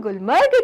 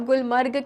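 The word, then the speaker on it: Gulmarg: तो चिल्ड्रन आओ और अब पढ़े हम गुलमर्ग के बारे में। गुलमर्ग, नोन एज गुलमर्ग, क्योंकि हिंदी में आप गुलमर्ग कह रहे हैं, लेकिन चिल्ड्रन कश्मीरी प्रोनाउंसिएशन क्या है? गुलमार्ग।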